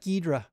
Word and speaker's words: Ghidra: always forget that and I call it gidra and voila it's just easier and faster gidra requires like a little bit more effort in the pronunciation so forgive me for that gedra gedra okay all right